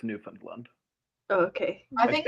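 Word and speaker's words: Newfoundland: Newland okay I think I think it's pronounced like kind of pushed together but I could supposed like kind of mum yeah you you have to say it quietly and quickly you have to go like oh what you name it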